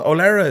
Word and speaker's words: O'Laoire: very sexy name imagine am I pronouncing it wrong no olera it's is it's an Irish name yeah my my my